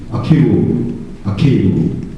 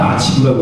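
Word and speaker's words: archive: 퍼스널, 패키지, 아케이브. 이번에 됐나요? 아케이브. 옛날 아치브라고 읽었잖아. 아치브. 아케이브.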